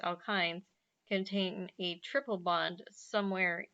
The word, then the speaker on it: alkynes: in the structure and alkynes that's pronounced alkynes contain a triple bond